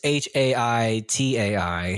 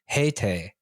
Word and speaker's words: Haitai: you just pronounced Looks like- it correctly. No, it's because in English it's Haitai, Yeah. but in Hangul it's Heite.